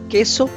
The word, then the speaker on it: queso: then it's k if it is followed by q u i it's key for example queso let's repeat